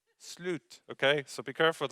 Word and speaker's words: slut: How do we pronounce it, Anne-Marie? Slut. Slut.